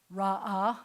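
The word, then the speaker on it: ראה: But that's because this last letter, the silent ish, hey at the end, it's silent at the end, I can't just leave this guy as a short vowel.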